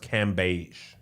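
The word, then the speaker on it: Cambage: this video of liz i believe it's pronounced cam beige going one-on-one with a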